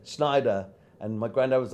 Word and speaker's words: Schneider: got the nickname uh Schneider which rhymes with spider a tailor in German